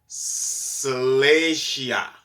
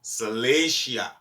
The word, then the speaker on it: Salacia: have in there in Romans is salacia I said it wrong before salatia right for Romans um